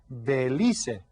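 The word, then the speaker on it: Belice: You see, you pronounce all of the letters in Spanish, so it's Belize.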